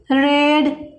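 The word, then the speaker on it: read: काय येईल, hadn't you रेड. बघा, रीड रीड रीड V1 V2 V3 spelling सारखंच आहे, पण उच्चार मात्र रेड करावा लागतो याचा.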